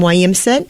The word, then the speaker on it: Williamson: Mingo County I'm a Mingo County girl from Williamson um parents now wait a minute hold it you pronounce it Williamson and not Williamson Williamson William